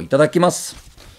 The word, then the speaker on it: itadakimasu: this you close your hands together you go itadakimasu it means uh thank you for uh giving